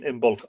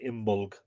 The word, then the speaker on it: Imbolc: Do you pronounce the B in Imbolc? I do, but I suspect it shouldn't be pronounced actually Imbolc.